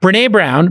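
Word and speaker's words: Brené Brown: fact producing it what with brin is it renee brown am i pronouncing brown yeah brene brown produ i believe produces her own show with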